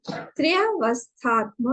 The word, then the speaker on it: त्रयावस्था: यदि ही त्रयावस्थात्म विलक्षणम, देखिए जब हम लोग बोलते हैं ना त्रयावस्था, इसको अच्छे से प्रोनाउंस करिएगा। त्रय त्रय त्रय त्रय, त्रि है वो और अवस्था है, त्रि अवस्था, या तो हम त्रि